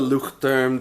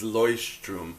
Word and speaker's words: Leuchtturm: It's not the Luchterm. The proper pronunciation is Leuchtturm that Ryder Carroll was promoting.